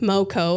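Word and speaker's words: Meaux: This brand is called Moco. M A Yeah. M E A U X. Moco. It's the French pronunciation.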